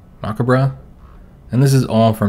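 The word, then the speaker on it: macabre: kind of maob dance I think the British pronounce that macabra and this is all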